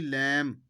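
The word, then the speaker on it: lamb: कहते हैं साइलेंट खामोश जो हर्फ लिखने में आता है लेकिन बोलने में नहीं आता जब बोलते हैं इसलिए श्लोक इसको साइलेंट कहते हैं खामोश एल ए एम बी लैंप लैंप मिन शेयर और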